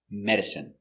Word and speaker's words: medicine: no drink take pronunciation medicine m e me D Med Med Med I medicine medicine medicine stress on the first syllable medicine medicine not countable